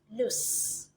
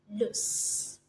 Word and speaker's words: loose: whether you got them right in terms of pronunciation so this one here is lose and this one here is loose lose loose so you're wondering what's the difference okay so